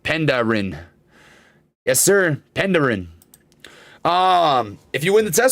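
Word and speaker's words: Penderyn: It's pronounced Penderin.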